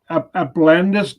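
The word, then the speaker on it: Alpenländische: Applandis, yeah, the German pronunciation.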